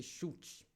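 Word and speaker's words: Schuld: de se pronunciar né a gente chama de chute chute é essa expressão em alemã e essa é uma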